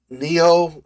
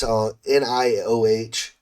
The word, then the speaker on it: Nioh: If you like Neo, not I don't know how to pronounce this game. It's Nioh handled loot.